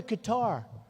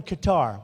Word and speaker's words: Qatar: So this guy's showing me, a wonderful guy, showing me the airport in Qatar, which they say Qatar. I've always said Qatar, so what the hell.